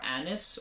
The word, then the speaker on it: anise: Now, star anise, or anise if you prefer that pronunciation, is also listed as an ingredient in this fragrance.